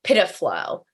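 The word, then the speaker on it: PIDF-LO: Presence information data format location object PIDFlow. That's what it's pronounced as.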